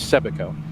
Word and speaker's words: Sebico: Was well corrected on the pronunciation of that word yesterday. It is Sebico.